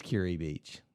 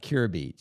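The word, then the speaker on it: Kure Beach: spot uh Curry Beach it is curri Beach not Cur beach cury beach I think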